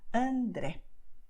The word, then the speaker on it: André: the same movement by saying and then re. Okay, so because de and r, they are very similar. So André. Okay, this is what you should do. Okay, because this is the way we pronounce in Portuguese.